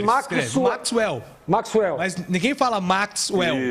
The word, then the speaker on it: Maxwell: A diferença está na sílaba tônica. É Maxwell.